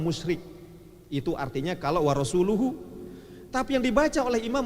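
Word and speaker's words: رسوله: Wa annallaha bari'um minal musyrikina wa rasulih, katanya. Oh, gemetaran dia. Padahal bacanya mestinya wa rasuluhu. Wa annallaha bari'um minal musyrikina wa rasuluhu.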